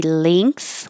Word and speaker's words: length: And there's two different pronunciations for this word. It can be length with more of an E sound, length, and you're making the NG combination like sing and ring and thing.